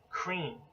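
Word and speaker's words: Kreem: And Kali seed mantra is cream. Literally as it sounds, closely associated with the English word cream, C-R-E-A-M, but in the Sanskrit, transliterated to English is K-R-E-E-M, cream.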